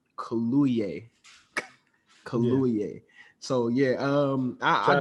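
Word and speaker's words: Kaluuya: name is actually i i looked it up so i can make sure we all say it right it's daniel colluey so yeah um i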